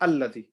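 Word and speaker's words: الذي: If I carry on, if I catch 𝗵𝗁 الَّذِي, this alif here is silent. But if I stop here, I say الَّذِي.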